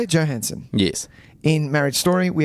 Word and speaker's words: Johansson: Johansson.